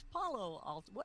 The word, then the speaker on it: Palo Alto: It's Palo Alto.